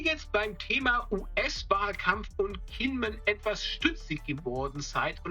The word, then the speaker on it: Kinmen: Würde man Kinmen zu 100% richtig auf Hochchinesisch aussprechen, müsste man eigentlich Chinmen sagen. Allerdings nutzt auch die taiwanesische Regierung zeitweise häufig die südchinesische Aussprache Kinmen.